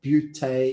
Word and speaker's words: Beauté: By the way, did I pronounce Beauté Industries correctly?